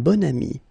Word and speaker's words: bon ami: And the first one, un bon ami. Okay, so you can see that here you've got this adjective, bon, okay, and then you pronounce it bon ami when you make this link.